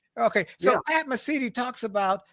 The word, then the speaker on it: Mesiti: It's Mesiti, isn't it? Mesiti, that you said it It's perfectly. Mesiti. Okay, that's right. It's Pat Mesiti. Right. Okay, so Yeah. Pat Mesiti talks about how to do this and how